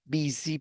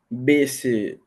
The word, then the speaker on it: busy: But when you pronounce busy, can you repeat this? Busy, please. Busy. Busy. Busy.